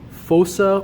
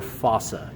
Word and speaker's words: fossa: in anatomy is called a fossa or fossa you can pronounce it either way now these fossa are